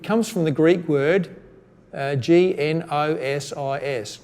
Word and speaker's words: gnosis: from the Greek word GN OS is gnosis you don't pronounce the G it's a silent G gnosis and that word